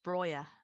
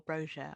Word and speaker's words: Broja: I actually feel quite bad saying this, but it's Broja, or Broja, or however you would like to pronounce it, but I will be using the Albanian pronunciation. Broja, I just think I